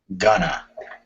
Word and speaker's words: going to: main verb uh Rodrigo will sound like Gunna yeah okay and the